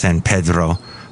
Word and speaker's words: San Pedro: They call it San Pedro. Yes, it's pronounced San Pedro.